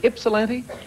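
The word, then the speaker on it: Ypsilanti: Double an antel from is it ipsilanti yes that's the correct pronunciation that's correct good having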